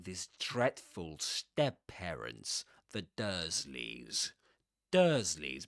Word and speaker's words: Dursleys: Dursleys begins with this "er" sound, as in church, the same as in church or first or even bird.